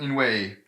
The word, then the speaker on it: 因为: way the pronunciation of inway some people are trying to say it slightly differently i guess i think the most correct or the most dictionary is like this in way fourth tone weight but some people